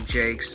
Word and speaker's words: Jakes: And it's not Jumping Jacks, it's literally Jakes. It's spelled like Jake.